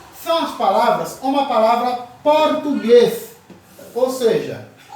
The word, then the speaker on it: português: um a sílaba tônica essa sílaba tônica da palavra português é a última e vem com acento então a palavra oxítona